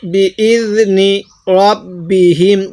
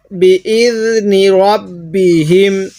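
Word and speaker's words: بِإِذْنِ رَبِّهِمْ: বিইজনি রব্বিহিম, কেউ র জবর রা পড়ব না, তাহলে বিইজনি রব্বিহিম। আরেকবার আমার সাথে পড়ুন, বিইজনি রব্বিহিম।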